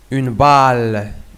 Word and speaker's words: balle: Notre exemple, une balle, une balle. Ici, si vous regardez, le E est une lettre muette. On ne prononce pas le E.